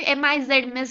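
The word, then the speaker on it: Messrs: है ये मिस, right, इसे प्रोनाउंस भी MIZ मिस करते हैं।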